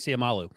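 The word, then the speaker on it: Seumalo: Guard from Philadelphia who is it uh Isaac siamalu that's correct that's the correct pronunciation so is the official Eagles former Eagles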